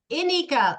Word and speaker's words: Ineka: Her name is Ineka. That's Ineka. What you say, long E.